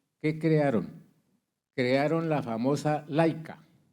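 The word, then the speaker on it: Leica: Crearon la famosa laica. Laica. Pronuncia Laica.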